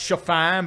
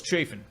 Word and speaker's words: Chafin: be better for you it's pronounced chiffon but it's uh we can't have anything cool so it's chafing relatively decent Arizona Diamondbacks